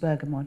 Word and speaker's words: bergamot: lemon thyme and bergamot I think it's pronounced bergamot too not Burcham over the airport plus